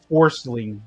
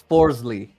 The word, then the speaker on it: Forsling: I can't believe that dude's actually named is Forcing. Like, what the heck? It's Forsley. Nope. But it's spelled Forsling. I looked it up.